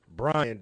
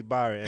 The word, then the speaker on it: Bryon: I had a shirt, dog, in Utah that said, Bryon, don't call me Byron.